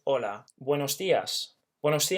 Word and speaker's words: hola: to say and now we never pronounce the H in Spanish hence it's not holla it's just hola buenos dias when I'm